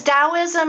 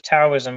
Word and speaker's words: Taoism: over here everybody says taoism because that's all the damn chinese movies to it yeah because it's it's spelled with a t but the t is silent yeah i i yeah